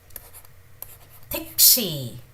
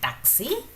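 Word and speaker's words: 택시: So they do not pronounce it as taxi, they call it as tikshi, tikshi, tikshi.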